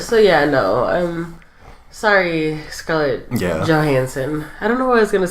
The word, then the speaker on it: Johansson: Because the J is pronounced a H. Yeah. Just to clarify that you're not calling her a hoe. No. In Spanish, J's are pronounced as the H sound.